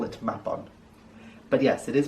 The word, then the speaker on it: Mabon: and why i don't like to call it map on but yes it is pronounced map on not mabon map bond the word mab in welsh means